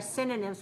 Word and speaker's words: synonym: right so they are synonyms meaning they have the same meaning how many syllables do you hear in the word synonym synonym where is the stress very good let me